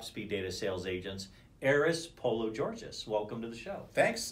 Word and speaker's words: Pologeorgis: data sales agents aris polo georgeous welcome to the show thanks and thank you for pronouncing my name correctly I really it's very easy it's just it's polo Georgia so anyway you were